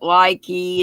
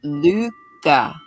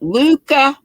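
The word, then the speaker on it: Lykke: say this were as I always pronounced that likey and some folks that that was wrong so some folks pronounced it licky I'm like I ain't even going there but some lady she said a Norwegian lady or ladies and maybe more than one to come into the shop and they pronounced it Luca which does not look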